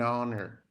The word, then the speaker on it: honor: Que o honor ali, ó, o H, ele é silent, a gente não pronuncia, tá? Então, olha lá, an hour, an honor.